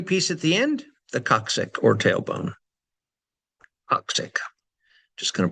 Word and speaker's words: coccyx: The tiny piece at the end, the coccyx or tailbone. Coccyx. Just going to pronounce that one more time for you.